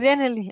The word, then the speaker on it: Genially: en Genially uno puede, bueno, la pronunciación ahí, uno puede, Sí, sí, es Janely.